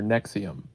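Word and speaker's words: NXIVM: podcast called Allison After Nexium. Although you would never guess Nexium's pronounced that way if you look at it.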